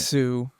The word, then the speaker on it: Tsu: I feel it because I hate silent letters, so Yeah, I do it on purpose. It's not even silent. Tsu.